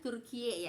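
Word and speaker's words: Türkiye: kan ada bacaannya kan kalau Turki itu kan bacanya turkiye Ya turkiye gitu ya eproxy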